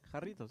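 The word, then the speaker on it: Jarritos: say it again yeah did they get close haritos there you go I can roll see there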